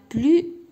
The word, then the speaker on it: plus: وزود اي اذا هنايا فاش كنقول لا بلوس بوحدها غادي نقول لا، ولكن فاش غادي نجي نكتبها هنايا ما غاديش ننطقها هنايا. فاش غادي نقول لا بلو بيل ما غاديش نقول لا بلوس بيل.